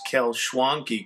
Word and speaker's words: Kalschwanki: Here's a little more about my family's last name if you're wondering how to pronounce Kalschwanki correctly. It rhymes with donkey and honky.